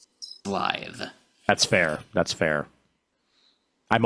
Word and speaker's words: Slithe: They're spelling it with just one S here, but I'm sure I remember the toy package back in the 80s having at least 3. So I'm pronouncing it Slithe.